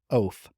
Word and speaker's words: Eoff: So the next string that's just seems that I want to pull on is how do you pronounce a last name Eoff? you pronounce that last name Oaf.